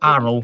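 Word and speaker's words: Arles: anything from Arlay would be oddly Arrow. because It's pronounced Arrow. It's French.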